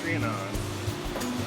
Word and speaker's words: Trianon: So how do you pronounce the name of your company? Trianon.